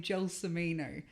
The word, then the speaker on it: Gelsomino: my first name my second name jill samino so joel sarino is usually what they butcher the most but in america i